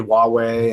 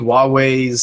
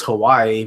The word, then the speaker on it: Huawei: too um I think huawei's sort of reputation changed after that because up until then first of all we thought it was Hawaii we thought that was how we pronounced it second all all these